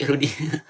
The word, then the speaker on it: Rudi: Nama saya bukan, Bu, tapi Rudi.